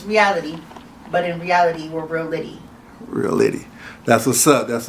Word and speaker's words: Realitty: Reality. Is that correct? That's correct, but it's spelled with 2 T's. All right, 2 T's. So if you look at it, it's reality, but in reality, we're Realitty.